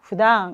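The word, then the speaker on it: 普段: 여기도 단어를 좀 살펴볼 건데 평소라고 하는 표현, 평소라고 하는 아이는 후당이라고 읽으시면 되겠죠. 후당.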